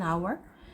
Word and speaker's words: hour: on an on our 얘는 h 무음이나요 그래서 아 발음이라 on라고 해요라고도 읽고요 an hour 그다음에 여러 개일 때는